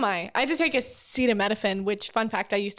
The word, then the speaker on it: acetaminophen: everywhere so am i i had to take acetaminophen which fun fact i used to pronounce as acetophamine when i was in college because i have